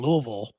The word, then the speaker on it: Louisville: least in Kentucky in Louisville, which I learned to say right too. You have to say it like you got food in your mouth.